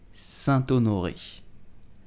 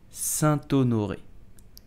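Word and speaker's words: Saint-Honoré: it you will say Santo Norwich Sun onoi so you will have to make a link between the T and you will say Santo Nuri did you know that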